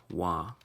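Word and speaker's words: waa: lands in this capacity, it usually sounds like wah. It has a nasally N sound at the end, but most people spell it W-A-A, and we're going to follow suit with that.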